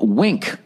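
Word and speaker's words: Winc: is now called wink that's spelled w NC a new name and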